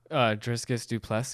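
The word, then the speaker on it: Dricus Du Plessis: Driscus Duplessis.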